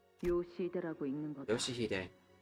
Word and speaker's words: 요시히데: 요시히데라고 읽는 거다. Yoshihide.